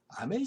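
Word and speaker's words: Hamel: 무슨 말이냐면 원래 프랑스 사람 아멜 선생님이 이 알자스 지역에 와서 프란츠라는 소년을 가르쳤던 겁니다. 이름 보세요. 그렇잖아요. 아멜은 분명히 프랑스 이름이죠. 이걸 하멜이라고 읽으면 안 됩니다. 프랑스인이기 때문에요. 프란츠.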